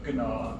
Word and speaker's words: gnaw: I always think it's bad we don't pronounce that G. So Gnaw, Gnat.